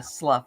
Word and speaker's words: slough: be coming up a how do you say that word SL it's like yeah Slough okay yeah it looks like sloth yeah I know I